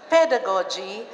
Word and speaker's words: pedagogy: and andragogy thank you the pronunciation is first accent of the first syllable hindi pedagogy hindi andragogy pedagogy andragogy okay okay this